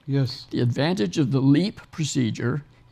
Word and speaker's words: LEEP: and what we call leep procedure leap is spelled LEP and is an acronym for loop electrosurgical excision procedure so all three of